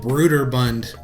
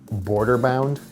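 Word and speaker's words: Brøderbund: in the thing now the company was actually called brooder bund internally to begin with even though it eventually became known as broderbund because it sounds better it doesn't sound like some sort of weird cummerbund beer mixture brooder bund all i know is that for most of my life i pronounced it border bound because i'm an idiot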